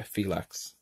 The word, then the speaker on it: Phylax: It is Phylax, right? I'm not butchering that up. Yeah, Phylax. Yeah. It's like relax, but yeah.